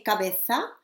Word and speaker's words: cabeza: So I say cabeza, I say nariz, because I'm from Spain and that's the way we say it here. And she pronounces the Z in a slightly different way. Okay, so you can choose. Both are correct.